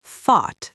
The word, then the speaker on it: thought: Right, because thought is pronounced like thought. It rhymes with caught or bought.